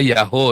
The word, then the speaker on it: Yahweh: Ya, saya bolak-balik ngajari bukan Yahweh ya. Yahweh Yaho kali. Itu tulisan YHWH itu bacanya bisa Yaho, saudara. Ya, memang bisa dibaca Yaho ya. Karena akhiran hey di belakang itu adalah perpanjangan wow di depannya.